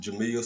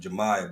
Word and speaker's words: Jamiya: Have any of y'all heard of this young sister, uh, Jamiya Bratcher? Some people pronounce it Jamia, some people pronounce it Jemiah, but have any of y'all heard of her?